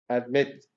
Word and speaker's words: admit: Admit, admitting. Second syllable stress, because the second syllable is stressed.